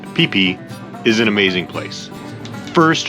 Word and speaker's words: Phi Phi: Phi Phi, yes, spelled like Phi Phi, but pronounced Phi Phi, is an amazing place.